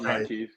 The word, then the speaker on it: Marquise: Marquise.